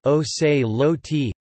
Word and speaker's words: Ocelotl: Jaguar warriors or Jaguar knights, Ocelotl Nahuatl pronunciation, O se lo t, listen, singular, or Ocelama, os lo mi, plural, were members of the Aztec military elite.